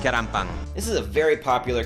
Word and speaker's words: 계란빵: 계란빵. Keranpang.